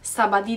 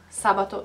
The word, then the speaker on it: sabato: the pronunciation by and I do hear some of you going like sabadie dominici no no sabato Dominica